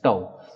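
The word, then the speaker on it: τ: successive collisions is tau it is it is pronounced like this tau so the time taken between is tau that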